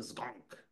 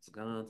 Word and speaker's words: Zgonc: would always say Zoran zon like he butchered my last name and I'd be Jerry it's zon but it's fine whatever